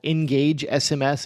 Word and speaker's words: Ngagge: But another one I put on the list, just as kind of almost like an honorable mention, is called Engage SMS. It's spelled Ngagge. Kind of weird.